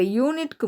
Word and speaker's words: unit: இப்போ யூனிட்க்கு முன்னாடி என்ன ஆர்டிக்கிள் வரணும்? இதுவும் நம்ம நேற்றே பார்த்துட்டோம். இதுவும் ஏஇஐஓயு வவலில் ஆரம்பிக்குது. ஆனால் இதை வந்து நம்ம எப்படி உச்சரிக்கிறோம்? இயர் சவுண்டில் உச்சரிக்கிறோம். அதாவது யூனிட் அப்படின்னு சொல்லணும். யூனிட் அப்படின்னு சொல்லுவாங்க.